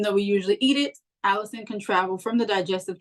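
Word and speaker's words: allicin: chewed this compound is known as Allison but it's not spelled like Allison it's a l l i c i n and it's the same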